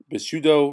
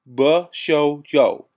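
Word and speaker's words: Bishōjo: My wrestling review of Bushido Wrestler Retsuden Blizzard Yuki Ranyu video review. And this was a comment. The first word is actually pronounced Bushojo. Bushojo. I was way off.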